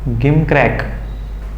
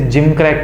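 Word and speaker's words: gimcrack: गिम क्रैक नहीं, इसे जिम क्रैक कहते हैं, इसका सही प्रोनाउंसिएशन जिम क्रैक होता है।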